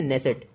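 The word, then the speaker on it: Knesset: और इसकी जो संसद है उसका नाम है नेसेट। के से स्पेलिंग शुरू होती है, नेसेट।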